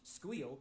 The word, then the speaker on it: SQL: Structured query language or SQL pronounced squeal by the in crowd is the primary programming language used to manage and interact with relational databases.